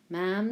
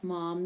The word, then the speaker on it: ma'am: call her ma'am remember it's ma'am that rhymes with jam not mom that rhymes with the arm never turn your